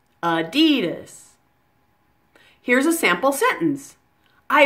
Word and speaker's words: Adidas: like this D dhis with the most stress on that middle syllable on D adidas now